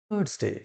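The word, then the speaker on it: Thursday: কেন এই আর কে দেখো আমি ব্র্যাকেটে রেখেছি। আমরা জানি আর এর আগে যদি ভাওয়েল থাকে তাহলে কি হবে? এই আর এর উচ্চারণটা সাইলেন্ট থাকে, জাস্ট শুনে যাবে। কি হবে? থার্সডে।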